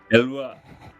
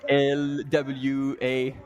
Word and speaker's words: Éloi: Le slow est dans notre Éloi. française. Elwa. There you go. You would write Miss it like Elwa. ELWA is how you would pronounce it.